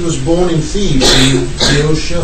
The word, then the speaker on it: Boeotia: It's believed that he was born in Thebes, in Boeotia. How do you pronounce it in English?